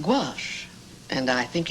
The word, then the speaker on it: gouache: named uh who oh that's that's gauche I've seen that word before gauche that's what it may be a little gauche but I think it's pronounced gouache and I think it's